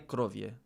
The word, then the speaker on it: krowie: Krowie. The E at the end should be more pronounced.